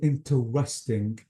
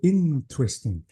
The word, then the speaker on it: interesting: You have to say interesting. So the stress is on the N letter, not on the R letter.